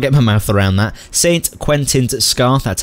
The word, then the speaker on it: St Quentin Scar: I still can't get my mouth around that Saint Quentin's scar that's how you say it that's what we